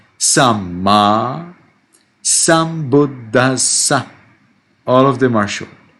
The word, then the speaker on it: Sambuddhassa: Sa is double S. Sambuddhassa. You see? 3 times you get double consonant.